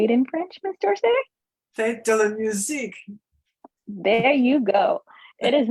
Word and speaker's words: Fête de la musique: Fête de la musique.